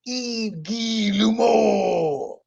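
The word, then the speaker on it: Guillemot: Ubisoft really hasn't provided an official sales figure, but CEO Eve Gil Lumo, I had to look up how to pronounce that because he's French.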